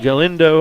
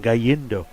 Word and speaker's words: Galindo: Washburn at 3rd, Green at 2nd, Galindo, I almost had his pronunciation, Gallindo, at 1st for Cooper Camacho.